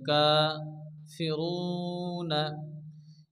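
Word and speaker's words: كافرون: জবর এক আলিফ প্রমাণ টান দিয়ে পড়তে হবে কা ফিরুনা এখানে আয়াতের শেষে নূরের উপরে কি আসছে জবর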